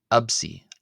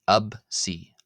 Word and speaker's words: ⲉⲯⲓ: Uh in in keeping with how I was pronouncing the letter p previously uh as a b instead of a p absy absy.